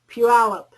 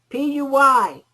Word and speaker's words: Puyallup: Puyallup. How do you spell that? P-U-Y-A-L-L-U-P.